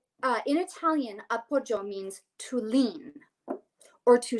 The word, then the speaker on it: appoggio: And it's this term called appoggio. So it's spelled Appoggio, appoggio, right? And the technical definition of this in Italian, it's an Italian word.